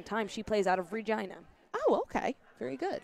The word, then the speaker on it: Regina: She plays out of Regina. Oh, okay. Very good. The city that rhymes with fun.